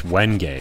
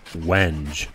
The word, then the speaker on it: wenge: I mean, it's wenge. A really dark, really hard. What's that? Oh, okay. Apparently it's actually pronounced wenge.